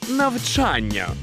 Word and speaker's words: навчання: буде не так легко слово навчання вимовляється з наголосом на другу букву А ви ж теж так кажете Навчання навчання навчання навчання навчання навчання опапа ось тут і підловив десь Я до речі теж чув що так частенько вимовляли Та в нас викладачі так кажуть постійно О то мабуть і у мене колись так казали Та все ж правильно казати Саме навчання із наголосом на другий звук А навчання навчання навчання